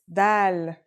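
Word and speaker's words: د: Our first letter is dal. It's just like the English D. Very easy to pronounce and easy to write as well. Here's the isolated form. Dal.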